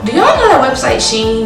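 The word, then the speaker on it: SHEIN: y'all know that website sheen do y'all pronounce that she and or she i always say sheen but my friends have been telling me is she in and i don't even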